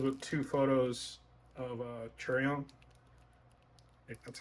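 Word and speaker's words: Chaeryeong: this one comes with two photos of uh cherry on that's how you say her name treyong and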